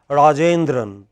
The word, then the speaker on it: Rajendran: In all languages of the world, in our languages also, when somebody is called Rajendran, which part of his name is most stressed? J.